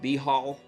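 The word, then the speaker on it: Baal: Some well-known deities in the D&D pantheon are chemos and ball. That's how I pronounce it. Some others call it behal. I think that sounds weird.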